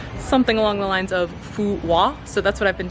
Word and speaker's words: Phú Quốc: In fact, the name of the island, a lot of English speakers pronounce the island Fuquac, because that is kind of how it's spelled from an English-speaking mindset, quo, we would say Quac or something along those lines.